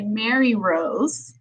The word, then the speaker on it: Marirose: tech difficulties and um i am so sorry i butchered your name it's actually mary rose so i wanted to